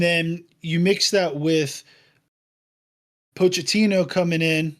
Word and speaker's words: Pochettino: And then you mix that with Pochettino coming in, right? That's how you say his name or coach. Mauricio Pochettino.